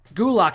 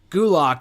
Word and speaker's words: Gulak: charismatic repackage do lock gulick i think is how you pronounce it i'm sorry gulak i think is a